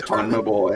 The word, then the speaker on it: CONMEBOL: I think they call it Conmebol. I don't know. Good luck. Good luck trying to pronounce how they say that. Conmebol, is that what they call it? That Conmebol, yeah.